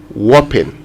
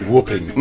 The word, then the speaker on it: whopping: So if you want to say it right, I know that because you find the H in there, and this is the problem. Many of us, we say when. So when you see WH, you want to say hopping, but it's actually whopping.